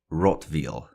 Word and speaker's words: Rottweil: he grew familiar with in his travels was rotv it's spelled r o TT we i l and